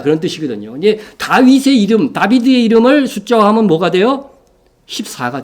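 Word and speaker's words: דָּוִד: 그래서 이게 여러분 여기 이제 이런 모음은 없는데 이게 히브리어로 읽으면 다비드예요. 우리 성경에는 다윗으로 표현됐죠. 그렇죠? 이 다비드란 말이죠. 원래는 정확하게 다윗은 발음 그대로 하면 다비드입니다.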